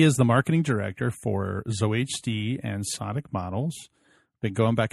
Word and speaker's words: ZOHD: ZOHD, yeah.